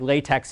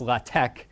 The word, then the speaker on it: LaTeX: listed down there is it looks like latex it's pronounced latch and it is a